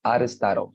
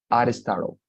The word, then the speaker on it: Aristotle: When you pronounce it in English, it's Aristotle. I'm gonna write it here for you, chat box. Aristotle, like this. Aristotle, okay?